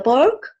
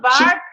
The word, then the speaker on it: park: Voiceless. There is no voice in it whatsoever. It's not B. If I say bark, I make a sound and I close my lips together. There is no air coming out of my mouth. If I say park, I have to blow the air outside of my mouth and it's light.